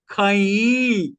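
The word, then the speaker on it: חַי: लेकिन ये इब्राय भाषा, मूल भाषा में खई, खई लिखा है। कई, स्पेलिंग CHAY, कई, KHAH डबल ही प्रोनाउंस करते समय, खई, खईम, CHAY, खईम का अर्थ होता है विक्ट्री।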